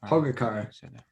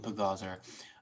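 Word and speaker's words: Pogačar: How do you spell that? Oh yeah. Pogacar. Pagaz. I called him Pagazar.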